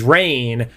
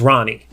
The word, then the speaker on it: Rahne: Well, that's the thing is I think if you're European and you're Scottish, you would pronounce it Rain. Oh, okay. Like I have only ever said it as Rain.